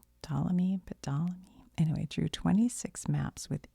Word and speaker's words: Ptolemy: I know how to say PT together, like somewhere in my brain I do. I just can't think of it right now, but it's Ptolemy.